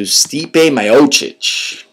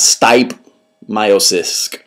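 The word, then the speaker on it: Stipe Miocic: We're on to Stipe Myoic, not Stip Myiosis, as I heard like five people pronounce it, vers Shane del Rosario.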